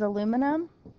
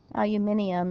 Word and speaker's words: aluminium: name the ions the name for Al is aluminum aluminium if you are British p is phosphorus we dro the last syllable and we add the suffix i phosphide